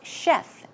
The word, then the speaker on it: chef: Chef simple to pronounce chef chef as you would pronounce s h e f sh sh Chef some other words for